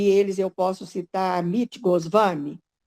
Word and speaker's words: Goswami: pesquisar sobre amit goswami escreve amit goswami 1w certo mas pronuncia-se goswami então você ao pesquisar